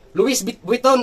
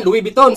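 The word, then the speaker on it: Louis Vuitton: kung nagtataka kayo kabayan Luison ang pag ano niyan ang spelling. Pero pag i-spell mo yan is Louis von kasi sa mga francis ah iba kasi yung pagkabigkas nila. Parang silent s walang s. Luison kabayan. Loui biton sa atin ang pagkabasa natin.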